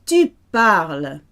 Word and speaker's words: tu parles: Tu. Sounds the same, but it's spelled ES. All conjugations for tu end in ES, except the imperative for ER verbs, but we'll come to that another time. Tu parles.